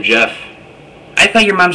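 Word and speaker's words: Geoff: Jeff. Spell your name. G E O FF. Okay. Now, why is your name spelled with a G instead of a J?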